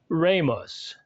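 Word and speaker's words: rēmus: his spell are long e mus and is pronounced ramus the short e sounds more like the e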